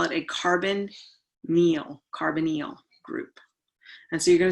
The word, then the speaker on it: carbonyl: call that a carbonyl it is not pronounced the way it is spelled of course that would be too easy right but we call it a carbon meal carbonyl group and so you're